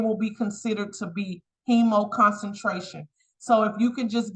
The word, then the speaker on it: hemoconcentration: The last H word is pronounced hemoconcentration.